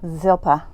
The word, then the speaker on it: Zilpah: In essence, Bilhah and how did you pronounce her name? Zilpah? Zilpah.